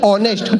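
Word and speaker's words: honest: honour होता है अब यह बोला नेस्ट नहीं ऑनेस्ट होनर नहीं ऑनर इसमें एस साइलेंट आता है अब हम दोनों की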